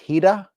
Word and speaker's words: Hira: And I believe it's a Japanese word pronounced hidah.